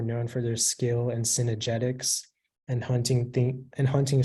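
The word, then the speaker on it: cynegetics: all the information yeah the only pronunciation is synergetics it's a non-plural but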